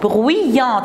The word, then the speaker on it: bruyante: J'écris Y-ante, mais je prononce bruyante.